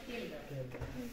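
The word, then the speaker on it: Kjeldahl: ভাষায় ক্যালডাল বলা হয় জেলডাল কিন্তু জার্মানি উচ্চারণটা করে কেল্লডাল কে জে কে ঠিক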